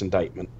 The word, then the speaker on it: indictment: Also, it's pronounced indictment. But That's what I thought, but I didn't want to say anything. what it is? Yeah. What? But why is it a C? I don't fucking know. Shouldn't it be like a GH or something?